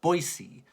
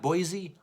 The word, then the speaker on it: Boise: at Boise that that is how you properly pronounce it guys by the way Boise not Boise Boise State let's see what uh the guest